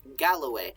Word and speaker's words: Galloway: and uh he's from Galway Galway not Galway uh it's spelled it looks kind of like Galway uh not Galway it's Galloway which is sort of